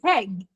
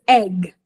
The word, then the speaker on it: egg: no AG at all for example heg uh I want to fry heg no please it is egg and it is very